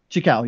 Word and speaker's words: Xicão: Xicão, yeah.